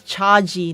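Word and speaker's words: CHAGEE: E E is uh is actually pronounced as Chaji, not Chagi.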